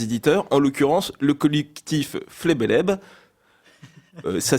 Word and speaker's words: FLBLB: aujourd'hui avec les éditeurs en l'occurrence le collectif flebeleb ça s'écrit FLB LB pour ceux qui seraient curieux